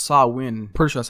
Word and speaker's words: Samhain: So if we say this in American English, it's Samhain, but it's a Celtic festival, and it's pronounced Samhain.